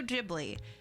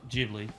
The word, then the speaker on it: Ghibli: kind of craziness she got up to at Ghibli Park, and hopefully not die of jealousy.